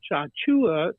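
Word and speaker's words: Tchatchoua: I saw the Jonathan chamwa chachua is the way he pronounces it I just wish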